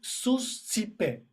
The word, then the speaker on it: suscipe: And here the suscipe is the pronunciation is suscipe, suscipe, suscipe.